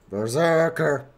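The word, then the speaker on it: BRZRKR: Apparently Keanu Reeves wrote a comic called Berserker, but pronounced B-R-Z-R-K-R. Berserker.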